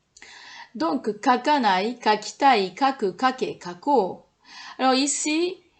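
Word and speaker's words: 書こう: Donc, kakanai, kakitai, kaku, kake, kako. Alors ici, ko plus u, ça ne se prononce pas kou, ça se prononce ko.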